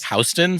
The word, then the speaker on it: Houston: Like Howston Street?